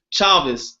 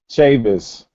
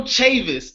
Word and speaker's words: Chavis: No, you said it wrong. I said it wrong. I keep saying her name wrong. Chavis. Tavis. All right, like Shade. That's how I'm going to remember it. Angel Chavis.